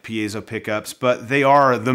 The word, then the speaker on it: piezo: options for Piezo pickups Piezo pickups or Piezo pickups if you say it wrong but that's what we're